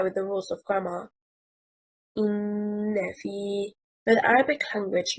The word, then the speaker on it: إِنَّ فِي: The stress is on harakat al-fa of the second word, and harakat al-hamza from the first word bears the stress. And the correct stress leads to the correct meaning.